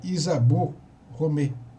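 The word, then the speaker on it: Isabelle Romée: né pela escadaria chamada Isabelle romet que em francês se pronuncia Isabel Romeu quem que era essa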